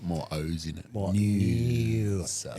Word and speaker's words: Noosa: More Noosa. It needs an N-E-W-S-A. If they could spell it properly, I'd be so much happier with them.